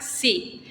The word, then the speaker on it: xi: el centro la letra se llama sí Qué significa esto Esta es la letra que después deriva la x empieza con dos sonidos cs y por eso nosotros tenemos las palabras con x tienen doble sonido esto es una consonante